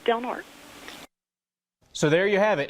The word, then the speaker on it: Del Norte: The way we pronounce it is Del Norte. Some of the older generation of the locals here in town do say Del Norte, but mostly the younger generation have always just called it Del Norte.